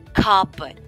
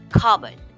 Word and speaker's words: cupboard: it, but the P is generally silent. The O is also not emphasized, making the pronunciation a breezy cupboard. Okay, one more time, cupboard.